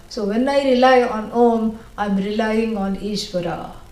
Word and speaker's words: Om: This is what is, makes up the word Om. A, U, M. But you're not supposed to say like that. A, U, no.